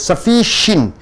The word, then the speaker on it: sufficient: இப்போ நீங்க பார்க்கிறது sufficient. இந்த இஷ்ஷுக்கு அர்த்தம் கொடுக்கணும். sufficient. sufficient. ஷின்ட்னு சொல்லக்கூடாது, என்னுக்கு அப்புறம் டி வரும்போது டீயை உச்சரிக்க கூடாது.